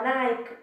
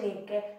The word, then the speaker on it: Nike: Ecco, noi pronunciamo Nike quando ci riferiamo alle scarpe, ma si dice Nike, la dea della vittoria.